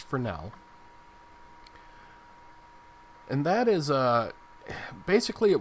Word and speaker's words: Fresnel: It looks like Fresnel, but it's pronounced Fresnel.